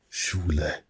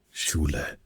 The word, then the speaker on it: Schule: It's written like this. It is written like in English we have school, but in German it is pronounced as Schule. Schule. Schule.